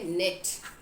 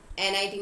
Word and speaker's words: knit: Next हमारा word है नेट, KNIT, नेट। NIT मत कर देना, के साइलेंट है इसलिए नेट बोल रहे हैं, ठीक है।